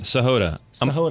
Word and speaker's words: Sahota: Sahod.